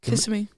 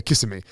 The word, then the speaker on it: Kissimmee: Kissimmee. Yeah, Kissimmee.